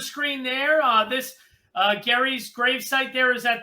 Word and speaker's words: Gerry: be noted uh that his last name is gary like a garage or garbage with a hard g but uh we call